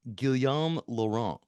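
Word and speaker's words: Guillaume Laurant: concept and you co-wrote I'm sorry if I mispronounce it you could correct me gilam lauron no it's good Bravo okay okay good you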